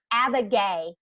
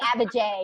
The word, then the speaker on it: Abbajay: I messed it up abigai today today I would like the band J like the bird Abba J you gotta people and